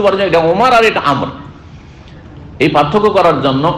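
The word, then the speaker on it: عمرو: এটা ওমর আর এটা আমর। এই পার্থক্য করার জন্য আমরের পরে একটা ছোট্ট করে ওয়াও লিখা আছে, দেখেছেন না? ওয়াও পরে একটা ওয়াও লিখা আছে, কিন্তু ওয়াওটার উচ্চারণ নেই।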